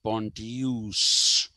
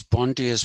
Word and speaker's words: Pontius: it should be pronounced pontius that is the latin pronunciation but i'm not going to do that sounds terrible so it is pontius pilate and uh what